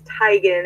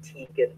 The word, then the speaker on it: Tigan: His name is Tigan, and I kept calling him Tegan.